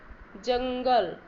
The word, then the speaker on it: जंगल: रहा है ठीक है जंगल मैं यहां पर ना कि तरह उच्चारण हो रहा है को पंख पंख का